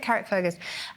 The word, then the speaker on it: Carrickfergus: pronounce it? Carrickfergus.